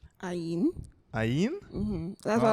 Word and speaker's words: Ain: I don't know what other people might know you as Ian. Ayin. Ayin? Mm-hmm. That's what I was waiting for. Somebody, the pronunciation.